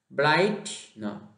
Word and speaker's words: bright: บอก กับ รอ เนาะ Bright I G H T เนาะ เป็น สระ ไอ นอน และ ออก เสียง ต้น ที่ นั่ง ท้าย g h t เป็น ตัว สะกด ที่ เนาะ จริง อ่า Bright